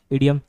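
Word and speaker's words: idiom: pronounce होता है उसका सही प्रनंसीएशन क्या है इडिएम जैसे इडियट होता है वैसे क्या है इडिएम इडिएम और फ्रेश डिफरेंस पहले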